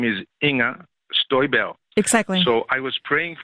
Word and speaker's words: Inger Støjberg: Her name is Inger Støjberg.